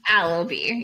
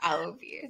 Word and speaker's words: Alabi: What's the right way to say it? Alabi or Alabi? Alabi.